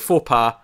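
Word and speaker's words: Faux Paw: Not Faux Pas, it's like Faux Pas, but it's spelled... P-A-W. Yeah, paw. All right, okay. I thought you were just saying it weird for a second. No. I was taking a second going... I was like, should I correct you? I'm not being an idiot here. It's spelled like paw, so...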